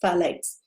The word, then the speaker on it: phthalates: They have a group of chemicals in them called phthalates, spelled with a PH, TH, phthalates.